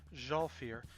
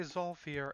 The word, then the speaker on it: Zhalfir: It is, I'm going to try to pronounce this right, Zhalfir. I was going to say Zolfir, and I think I've said Zolfir for years, but the video said Zhalfir, so that's what I'm going with.